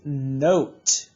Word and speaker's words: note: Then we'll notice that this word has the silent E, and this word would be note.